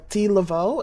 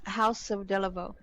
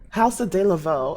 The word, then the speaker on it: Haus De La Vaux: Uh, D Lavo. Is that how you pronounce it? It's House of Deavo. House of Deavo.